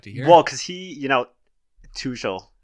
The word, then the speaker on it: Tuchel: Well, because he, Tuchel, that's how you pronounce his name.